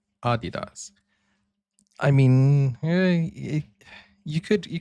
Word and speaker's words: Adidas: Adidas and Adidas are very similar. It's just the stress that changes. Adidas. Adidas.